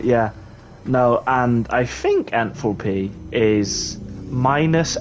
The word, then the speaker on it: enthalpy: uh enthalpy full p how do you say it uh I just said enthalpy ah what did I say before Oh yeah and falpy yeah because that's how you say it yeah I know it's not but it's funnier honestly that that's really funny